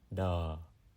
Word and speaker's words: đ: of a word, and it's pronounced similarly like the 2 T's in the word bottom, and then you drop the B-O, dum, and then you drop the O, da.